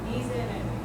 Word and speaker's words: Miserere: If it's between two vowels, it's a Z. Okay? So, a good example, we just talked about this. Okay? Miserere. This S is between two vowels. Therefore, we would notate it like a Z.